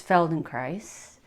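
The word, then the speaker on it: Feldenkrais: The main type of somatics I use in my practice is Felden Christ. Um it rhymes with rice and um it's a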